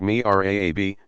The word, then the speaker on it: mihrab: Prayer rugs or carpeting sometimes show niche designs like that of the mihrab, pronounced mi'raab, niche. And somewhere in the mosque